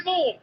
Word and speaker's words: Siobhan: It's my name. I know how to spell my name, and it's not S-H. Well, what is it then? S-I-O. S-I-O. Siobhan. What are you on about? It's Siobhan. S-I-O. Oh, I could have sworn there was an H in there. Where does that go then? It goes in the middle.